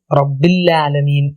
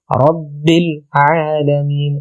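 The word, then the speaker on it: رَبِّ الْعَالَمِينَ: പലരും റബ്ബിൽ ആലമീൻ എന്ന് ഒറ്റ ഒഴുക്കിൽ പോവാറുണ്ട്. റബ്ബിൽ ആലമീൻ, റബ്ബിൽ ആലമീൻ. റബ്ബിൽ കഴിഞ്ഞിട്ട് ഐൻ വളരെ വ്യക്തമായിട്ട് ഓതാൻ ശ്രമിക്കുക.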